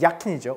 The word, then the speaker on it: Jacken: 그래서 어떻게 했냐면 man kann die Jacken, 자켓이 야켄이죠. 왜요? 독일어 J, 영어의 J죠. J는 영어의 Y 발음처럼 나기 때문에 야켄이지, 야켄.